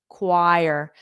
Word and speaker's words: choir: o in this okay so ignore the O entirely and that CH is like AQ cqq qu and then a u so there's two sounds